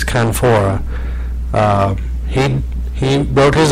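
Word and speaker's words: La Canfora: pronouncing his last name I always want to call him kaora but it's canfor um he he wrote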